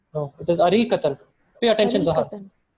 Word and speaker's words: أريكة: What's the correct pronunciation of sofa? أرياكة. No, it is Arikatan. Pay attention, Zahan. أريكة.